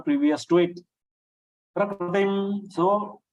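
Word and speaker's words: प्रकृतिम्: Many Hindi siders, North Indians, they are pronouncing kr as kri, prakriti. but that Kri is not a correct pronunciation. Whereas in Maharashtra it is pronounced as a Kru. So that Kru is also not correct. So what is correct? Kru. So without taking your lips ahead, if you pronounce it Prakru, then it will be a correct pronunciation.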